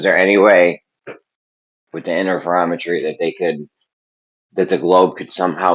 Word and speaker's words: interferometry: Interferometry.